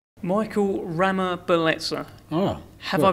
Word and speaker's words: Ramabeletsa: Michael Ramabeletsa. Oh, Have I pronounced it right?